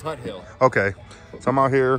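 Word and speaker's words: Tuthill: It should be pronounced Tuttle. Tuttle. But it's Tut Hill.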